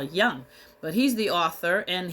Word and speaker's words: Jung: so Carl Jung J I don't know if you pronounce the J like a y I think people say Carl Young but he's the author